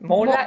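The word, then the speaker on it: måla: Claro, esa es una O, es mola.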